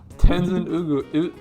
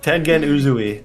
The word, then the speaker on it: Tengen Uzui: Number one, Tenzin Ugu. Frick. Roman, you say his name. Engen Uzui. Tengen Uzui.